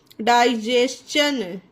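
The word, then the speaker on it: digestion: इसे क्या पढ़ेंगे, डाइजेशन, ठीक है, डाइजेशन, टी आई ओ एन है इसके बाद, तो चा से प्रोनाउंस करा गया है इसको।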